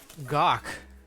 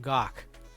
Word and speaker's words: Gok: We got my co-host Andy here on the call, but Moon Operator and Gok, welcome to the stream.